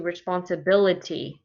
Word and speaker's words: responsibility: written in it and when we change it to responsibility look what it does the bil ability is stressed so right there you can see how many syllables there's six syllables and you can see which one is stressed it's the fourth syllable that's stressed so that might help